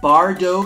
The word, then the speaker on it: Bardot: are we making today I got Bardo coffee our dough not Bardock Bardo Ethiopia I don't know how